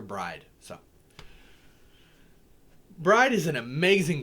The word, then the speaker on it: Brigid: irish celtic traditions was all about bride or breed or brigid or bridget um i know a lot of people usually call her just bridget or bridget but i call her bride so bride is an